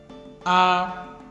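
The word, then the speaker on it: àkwá: Aqua.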